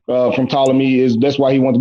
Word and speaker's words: Ptolemy: I don't know why I say Ptolemy, but the P is silent. From Ptolemy that's why he wanted to be consecrated as a god.